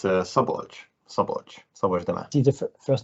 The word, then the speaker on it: Szabolcs: How do you pronounce these things? Yeah, it's Szabolcs.